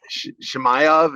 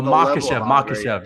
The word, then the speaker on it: Makhachev: Shemaev, is that how you say it? Shemaev, yeah. Yeah. He hasn't done and he hasn't fought anybody. Oh, Makhachev, yes.